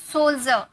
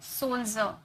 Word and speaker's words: सोल्जर: ज में है ना ज प्रोसीजर सोल्जर। यहां पर डी के बाद आई आर इ नजर आ रहा है। तो इसे हम ज में प्रोनाउंस किए। सोल्जर।